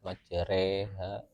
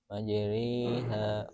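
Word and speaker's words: مجراها: Jadi seperti itu bacanya antara alif sama a sama e ya. Najeriha bukan jelas ke e juga, tapi memang antara alif a sama e itu. Kalau kita jelas majereha bukan, tapi pertengahan majeriha wa mursaha itu.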